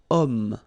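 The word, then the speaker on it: homme: possibility here we've got om man okay uh but then o is here we've got this ash letter remember Ash is not pronounced okay so you've got the sound of O at the beginning of this word okay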